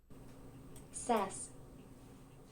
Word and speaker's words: Szasz: it knew exactly what I wanted it to pronounce sass oh give me a song says says that's pretty good anyways the quote is from Thomas says uh he's a Hungarian and American psychiatrist he